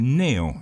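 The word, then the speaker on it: Cneo: Y para ustedes, mis queridos oyentes, recuerden que Neo se escribe C-N-E-O.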